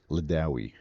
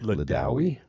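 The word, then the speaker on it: Lidawi: Leawi. L I D A W I. Leawi.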